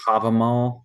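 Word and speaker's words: Hávamál: Oh, Havamal. Havamal, yeah.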